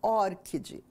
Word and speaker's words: ORCID: E a pronúncia correta, que os próprios desenvolvedores pronunciam como ORCID.